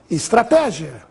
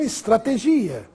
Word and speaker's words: estratégia: se inscreve sem acento note a forma correta das seguintes palavras estratégia e não estrategia filantropo e não filantropo